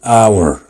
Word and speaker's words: hour: طب خد مثال، كلمة hour، هل الاتش منطوقة؟ لا، يبقى مش هنمشي ورا الاتش، احنا هنمشي ورا اول صوت منطوق وهو الاو، والاو متحرك، يبقى ان hour.